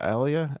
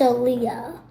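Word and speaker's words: Aaliyah: who who died in the plane crash Ilia Alia Alia um I don't know how to pronounce her name okay that's a Leah oh yeah Leah there you go at youz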